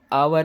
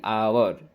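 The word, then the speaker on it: hour: क्योंकि एच जो होता है दोस्तों वह साइलेंट रहता है। यहां पे भी यह जो एच रहता है वह साइलेंट रहता है। तो इंग्लिश में बहुत सारे ऐसे साइलेंट वर्ड्स हैं जिनको हम पढ़ते हैं। साइलेंट नहीं पढ़ते और कभी-कभी रॉन्ग हो जाता है। पर यहां पे जो एच है ये साइलेंट है। हम आवर नहीं पड़ेंगे। क्या पड़ेंगे दोस्तों इसको? एन आवर। यहां से ओ से पड़ेंगे।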